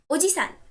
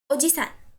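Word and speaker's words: おじさん: Somebody else's grandpa is Oji-san. You have to stress the syllable G. While somebody else's uncle is simply Oji-san. Oji-san. You do not have to stress anything here.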